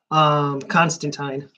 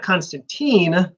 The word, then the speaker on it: Constantine: main character is Constantine it's not Constantine he's not Russian he's not American he's English why would he pronounce it like a Russian if he's English in English and Russians